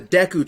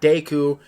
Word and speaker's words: Deku: the guardian spirit the Deku Tree it's pronounced Deku you you're on deck II not Daegu not d KU Deku children were forced